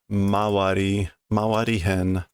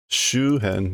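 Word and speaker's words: 周辺: Vicinity here is Mawari Hen. But that's not how you pronounce it. Is it Shuhen maybe? Shuhen, yeah, the environs or the area around it.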